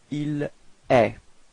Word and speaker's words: il est: So it's quite strange because it does sound the same as tu, okay, but then there is this final T, but you don't pronounce it. So il est.